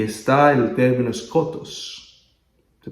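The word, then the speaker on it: σκότος: Y está el término skotos. Se pronuncia skotos.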